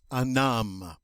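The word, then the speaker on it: homme: h this noun and remember h's are silent in french so it's going to sound like a num okay uh because uh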